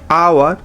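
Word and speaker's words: hour: Silent H, honest, আওয়ার।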